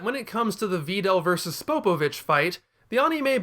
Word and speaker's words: Videl: A lot of people have Videl signs, and hey, at least these guys understand there's a long E sound in her name.